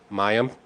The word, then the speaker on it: Mayim: Mayim.